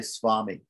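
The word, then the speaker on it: स्वामी: If it's in a conjunct consonant, then it's optional to pronounce it as either swami or swami.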